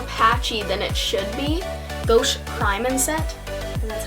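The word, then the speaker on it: Gosh: Gauche Prime and Set, and that's how you say it.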